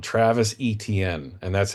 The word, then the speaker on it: Etienne: You spell it like this, and you pronounce it Etienne. And because I'm a big fantasy football player and I'm used to saying ETN, that's how I say it because that's how he pronounces his name.